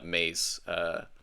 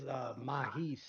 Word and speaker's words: Mahis: And at that exact point, Maze, Maz, Mr. how do you want your name pronounced? It's Mahis. Mahis. Ah, I was not even close to right.